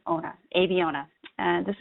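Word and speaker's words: Abeona: tried to fill out phonetically uh that it's pronounced a b owner aviona and this name selected by our ceo roman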